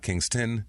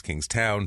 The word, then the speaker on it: Kingstown: Kingstown Rhode Island and it's king toown not King tin it's King Town trust me watch local